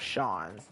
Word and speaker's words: Sean: I still don't get how S-E-A-N can be spelled Sean. Or pronounced Sean, but hey.